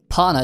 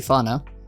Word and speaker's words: Fana: Pana, it says here, but it should be Fana. I suppose the pronunciation anyway.